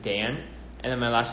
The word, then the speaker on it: Daan: my name is it's my first name is pronounced like how you pronounce it with one ace of Dan and then my last